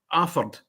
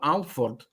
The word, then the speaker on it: Alford: It's like the village of a Aford. Now it's spelled Alford, but if you call it Alford, well, you you get hung drawn and quartered. It's Alfred. You know, you don't pronounce the L.